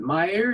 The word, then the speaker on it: Meyer: Meyer, is that how you pronounce his name?